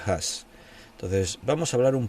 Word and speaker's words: Huss: hablar de John has a veces se me escapa el hus porque lo leo en castellano se escribe hu s pero se pronuncia has Entonces vamos a hablar